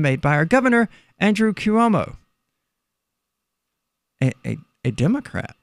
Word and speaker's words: Cuomo: ago yeah eight years ago I voted for cuomo who whose name I'm probably pronouncing it correctly because Hubble Hunter closer closer